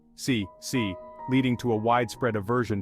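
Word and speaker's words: 死: The Chinese word for 4, si, sounds very similar to the word for death, si, leading to a widespread aversion to the number.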